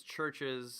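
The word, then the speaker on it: CHVRCHES: talk about them before their name is churches spelled with a v because music is seo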